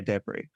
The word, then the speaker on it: Edebiri: Like, to me, I look at that as an African and I look at that surname and I say Edebiri. But then I have heard so many people say Edebri.